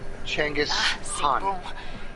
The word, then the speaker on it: Genghis Khan: the most weirdest name i've ever heard it's pronounced ch changes you're quite the field medic out there everyone